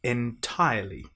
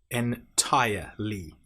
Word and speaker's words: entirely: IO short I long o when do we then have entirely. So I tire I entirely. Now make sure you don't pronounce the R in entire. It's not entirely. It's entirely.